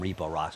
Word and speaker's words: Repo Rocks: And I want to call him Repo Rocks because that's how it's spelled, so it's annoying.